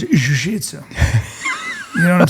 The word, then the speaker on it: jiu-jitsu: What about jiu-jitsu? Well, first of all, it's pronounced jujisu.